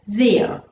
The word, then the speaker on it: sehr: Danke, Danke schön, Danke schön, Danke sehr, Danke sehr. Now you'll probably see now that the sehr is written with an S, but you're hearing a Z sound.